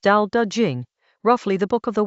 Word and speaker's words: Tao Te Ching: Chapter 49 of the Tao Te Ching, pronounced Tao Te Ching, roughly the Book of the Way and its